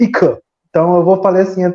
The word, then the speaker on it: Ika: Ika, mas eu aprendi que se pronuncia Ika.